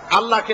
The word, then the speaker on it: আল্লাহ: আল্লাহ পাকের উচ্চারণটা হচ্ছে, আল্লাহ পাকের নাম হচ্ছে আল্লাহ। মুখটা একটু গোল হয়ে যাবে, বলেন আল্লাহ আল্লাহ আল্লাহ।